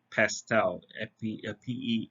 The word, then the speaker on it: PESTEL: Now, um, the order in which we described is, it's spelled as pestle, but you can also say it as pestel, Pestel.